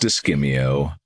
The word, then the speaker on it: Escamillo: Well, it's pronounced Escamillo, and he's a renowned bullfighter.